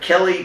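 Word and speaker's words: Khlee: is known as uh Kelly does things but it's spelled a little bit weird it's k h l e e does things and that's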